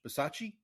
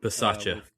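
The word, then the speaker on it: Bisaccia: They also replaced Rich Basach Bersace, special teams coordinator. Bacea.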